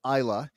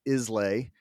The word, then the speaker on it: Islay: and ended up on Isla, which most Americans pronounce Islay, but that's an island off the west coast.